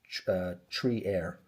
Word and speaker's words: Trier: a neighboring towel called the Frier, pronounced uh tree air.